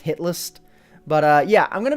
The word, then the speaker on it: Hit List: A lot of people think it's hitless, because, you know, if you say it fast, it's pronounced hit list, but yeah, I'm going to be starting a series called Hit List.